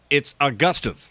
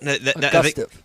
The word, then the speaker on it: Augustive: Now, it's Augustive, right? Augustive. It's like Augusta National with a V on the end. Augustive.